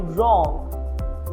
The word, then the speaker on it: wrong: W is silent in a word when it precedes R. For example, wrestle or wrong.